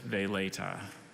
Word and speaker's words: veleta: during the regional competition are there any alternate pronunciations just they later and can you repeat the origin one more